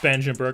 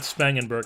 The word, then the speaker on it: Spangenberg: to from the Padre's was Cody or Corey spangenberg I believe it's pronounced spangenberg I'm pretty sure it's not spangenberg it's spangenberg so 76 overall 28 years old